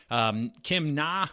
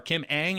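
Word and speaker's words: Kim Ng: Like I said, Kim Na was recently hired as or Kim Ang, I believe it's pronounced, NG is the spelling of the last name there, so I apologize.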